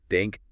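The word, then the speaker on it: danke: So for politeness they include denke just means thank you pronounced dank.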